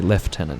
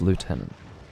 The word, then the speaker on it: lieutenant: so the English or in the UK they say left tenant instead of lieutenant but yeah they don't